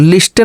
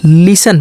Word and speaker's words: listen: LISTEN, तो क्या पढ़ा जाएगा? लिस्टन नहीं पढ़ा जाएगा, लिसन पढ़ा जाएगा। क्या? लिसन। टी का उच्चारण नहीं हो रहा है।